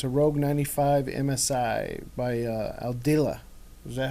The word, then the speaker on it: Aldila: It's a Rogue 95 MSI by Aldila. Is that how you pronounce it? Aldila? Aldila, yeah.